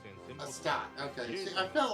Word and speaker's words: Astate: Astate. Okay, see, I felt like I was pronouncing it incorrectly.